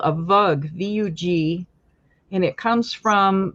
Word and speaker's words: vug: Miners and it was they pronounced it vog v o o g so I suppose you could say vug or vog but it's then that